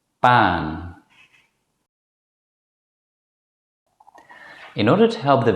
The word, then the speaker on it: maan: In fact, it's the same as the first vowel in the English word father. Now let's practice 3 example words. Man, fam, ban.